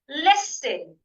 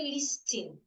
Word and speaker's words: listen: together say after me listen so I should not say listing listen some people the change the S here to a you hear them say listen no it's list listen listen